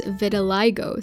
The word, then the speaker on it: vitiligo: According to Google, it's vitiligo, so I'll go with that.